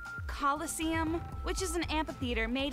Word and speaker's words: Colosseum: it right there's no such thing as a Killa sium what it's pronounced Colosseum which is an amphitheater made an ancient Rome